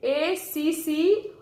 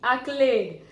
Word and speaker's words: accolade: Now again, an O is there, an O is there, letter O is there in between double C and L. So many might pronounce it as accolade. But no, this pronunciation, the correct pronunciation is accolade.